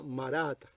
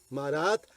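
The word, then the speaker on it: מרד: Ahora, su nombre en hebreo se pronuncia Marat. Marat, ya traducido correctamente, nos habla de nos rebelamos.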